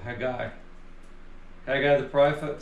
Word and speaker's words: Haggai: Or I looked up the Hebrew pronunciation, it's Haggai. Haggai. It's a guttural, Haggai.